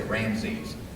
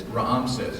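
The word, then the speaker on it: Rameses: this is said ra Raam Raam says I always mess I always want to say ramse and it's Raam says actually is the correct way to say it as Pharaoh d uh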